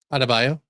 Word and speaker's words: Adebayo: Adebayo.